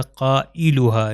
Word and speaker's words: قائلها: دیکھ سکتے ہیں کہ ابھی میں نے اس کو تلفظ جو کیا تھا وہ تھا قائلها، جلو نہیں کہا تھا، قائلها، کیونکہ حمزہ کا وہی تلفظ ہے جو الف کا ہے۔ اس میں بھی اسی